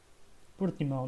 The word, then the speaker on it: Portimão: Portimão, that's how it's said properly in Portuguese.